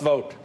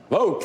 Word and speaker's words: Vought: going through life with the last name called vote in this day and age that's kind of interesting isn't it uh pronounced Russ vote vote thank you get out